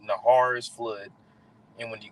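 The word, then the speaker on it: נהר: So when you get that word flood in the Hebrew, that word flood is pronounced nahar. All right, nahar is flood, and when you get that word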